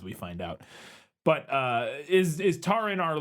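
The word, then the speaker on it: Taran: Let me check the pronunciation guide. The book does in have my a book. pronunciation It does guide. have a pronunciation, which was some help. This says Taryn. Taryn. Okay, Taryn. we'll just say Taryn then.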